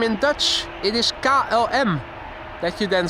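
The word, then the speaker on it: KLM: It is Ka LM.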